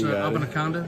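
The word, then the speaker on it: Abanikanda: All right, we're here in the Niner locker room with Izzy Abanaconda. And Izzy, did I pass the first test? Did I pronounce Abanaconda?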